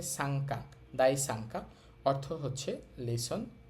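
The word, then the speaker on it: 三課: তো ন সাউন্ডেরর পরে কা লাইন মানে কা কি কু কে কো একটা বর্ণ থাকলে অথবা গা লাইন গা গে গু গে গো কোন একটা বর্ণ থাকলে ন এর উচ্চারণ অং হবে এইজন্য আমাদের এখানে ন এর পরে কা থাকার কারণে ন এর উচ্চারণ অং হচ্ছে তাহলে শব্দটার উচ্চারণ হবে সাংকা দাই সাংকা অর্থ হচ্ছে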